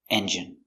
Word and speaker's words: engine: needs a new engine pronunciation engine e n n j j strong J engine engine stress on the first syllable engine engine engine he